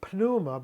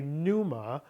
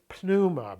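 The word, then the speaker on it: pneuma: Notice I'm saying punuma because the p the is not silent in Greek. Uh Greek generally with the with a little bit of an exception within dip thongs doesn't really have silent letters. So in English we would say numa but in Greek it's pluma because we don't have silent letters.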